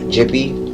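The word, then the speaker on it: Djippi: by the name of Jippy, and it's spelled D-J-I. D-J-I-P-P-I. Jippy. I say Jippy.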